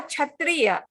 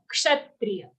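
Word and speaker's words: क्षत्रिय: Sha, Didi. Not cha. There's no cha sound there. It's sha. Ka and sha. Kshatriya.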